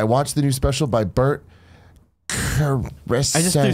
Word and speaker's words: Bert Kreischer: Bert Kreischer.